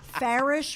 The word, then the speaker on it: Farish: Farish rhymes with parish.